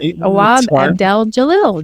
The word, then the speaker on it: Awab Abdel-Jalil: I see I said it wrong already. Look at that. Awab Abdel-Jalil. There we go.